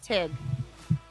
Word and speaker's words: Teague: town called Teague but the locals call it TIG t t t e a g u e